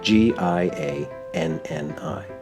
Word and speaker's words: Gianni: That's like Johnny in English, but in Italian it's spelled Gianni.